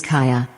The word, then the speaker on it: Kaja: My daughter's name is Kaja. 근데 사실은 이제 뭐 카자지만 실제는 이제 카야라고 읽을 것 같아요.